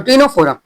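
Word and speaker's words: Ctenophora: Next move to the third phylum that is सी यहां पे silent होता है। That is टिनोफोरा।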